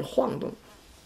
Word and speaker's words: 晃动: Here, if we use it as a verb, it should be pronounced as forced tone. Should be 晃动.